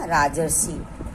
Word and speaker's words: राजर्षि: का पहला वर्ण री, तो छोटा आ प्लस री जब मिलेंगे तो अर का उच्चारण निकलेगा। ठीक है। अर स्वर की मात्रा आ जाएगी, तो शब्द हमारा बनेगा राजर्षि। क्या बनेगा? राजर्षि। अब देखिए राजर्षि को बोलने में अर का उच्चारण आ रहा है।